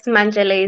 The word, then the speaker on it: Manjele: Pendo Manjele, is that the right way to pronounce the name? Yes, Manjele is the Manjele. Yes, correct. Yes.